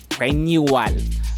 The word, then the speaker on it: renewal: Place a schwa near the end of the last syllable. I'm going to show it on the screen right now. Renewal. Notice what I did there?